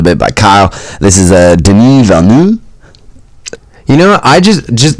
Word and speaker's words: Denis: As long as you're saying Denis and not Dennis or Denny.